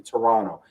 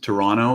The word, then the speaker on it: Toronto: I hear Toronto, you're not supposed to pronounce the last T. It's supposed to be Toronto.